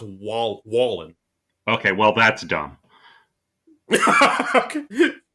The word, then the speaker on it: Wallen: Now, is it is it Wallen or Whan? I thought it was Whan. According to his Twitter account, it's pronounced Wall Wallen.